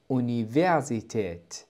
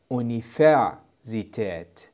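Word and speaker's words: Universität: متعلم اللغه الالمانيه الجدد هي تنطق اوني فيزيت وليس افع زيت لان حرف الفاو ينطق ف ف وهذا صحيح لكن هذه الكلمه هي كلمه دخيله لذلك ينطق الحرف كما هو الاصليه ايونيون والان لننتقل مباشره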